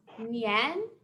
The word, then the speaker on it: nian: And the second is nian. That tone goes up, like we're asking a question, like that line on the screen.